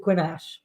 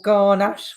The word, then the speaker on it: Grenache: It was Garnacha, or Garnache would be a kind of East End way of pronouncing the French version.